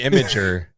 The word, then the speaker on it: Imgur: Is it Imgur? Is it Imager? Like what is it? You get people pronounce it differently. Yeah. I don't know. I've always had it as Imgur in my head, but I'm sure Imgur is just as valid.